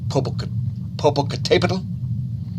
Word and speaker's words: Popocatépetl: I think it's Popocatépetl because that accent, I believe, means that syllable is the accented syllable. So I believe it's actually Popocatépetl.